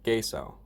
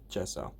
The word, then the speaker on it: gesso: will be showing you how to use gaso or gesso however you want pronounce it it's your choice similar to giffen gif uh geso for those who don't